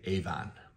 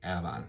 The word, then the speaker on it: Avon: also and a lot of people will say Avon but to be a local you're gonna say Ave the last one on the list here is